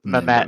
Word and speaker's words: Mehmet: Is it Met? How do you pronounce that name? Mehmet. Mehmet. Yeah.